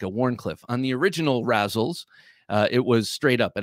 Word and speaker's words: Razel: I've heard it pronounced both ways, actually, but I'm going with Razel.